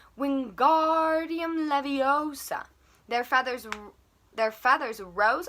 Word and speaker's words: Wingardium Leviosa: having much more luck wingardium leviosa he shouted waving his long arms like a windmill you're saying it wrong harry heard hermione snap it's wingardium leviosa make the gar nice and long you'd do it then